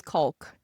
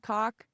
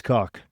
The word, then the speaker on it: caulk: We we use caulk. I have to have the L. I used to say, "Yeah, can you hand me that coke?" It's Caulk. The L is silent.